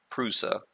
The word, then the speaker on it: Prusa: impressed with the Purusha believe it's proud of Prusa I've been mispronouncing it calling it press Oh need to meet